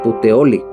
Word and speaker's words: Puteoli: Esta palabra de putioli viene del idioma latín, se pronuncia igual, o sea, puteoli, que significa pocitos.